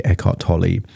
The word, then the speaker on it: Eckhart Tolle: It's by Echart Tol. Um that's how I pronounce it. It could be Echart Tully.